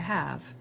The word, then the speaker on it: ha: we have avere, to have. I'll just run through this. Io ho, tu hai, lui o lei ha, noi abbiamo, voi avete, loro hanno. Notice that the initial H is silent.